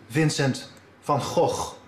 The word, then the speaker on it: Vincent van Gogh: good come on come on the correct dutch pronunciation is vincent van gogh please don't try this at home there you